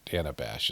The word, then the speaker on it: Dana Bash: or whatever it's called Uh Dana Dana Bash is how she pronounces her name so today's Wednesday uh